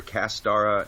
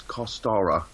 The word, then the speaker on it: Costara: I called her Castara, and she's like, no, it's Costara.